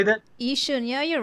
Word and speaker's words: Yishun: Yishun, yeah, you're right.